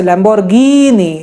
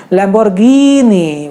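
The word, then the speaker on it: Lamborghini: ए stretch करना है कुछ शब्दों जैसे लांबोर्गिनी यहां पर जब भी ही की मात्रा है कि ने बड़ी ही रहेगी जैसे लेंबोर्गिनी लेंबोर्गिनी नहीं बोला है लंबोर्घिनि बढ़ी कीमतों और उसे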